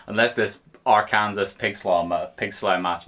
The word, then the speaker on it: Arkansas: good hmm I would hope not unless this Arkansas picks llama pig slow march managed to get